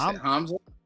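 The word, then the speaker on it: Hamsah: Yes, Hamza.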